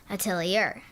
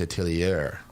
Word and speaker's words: atelier: is atelier wow but its name is french so if you didn't know how to pronounce it you would say it atelier actually not a tillier i like to speak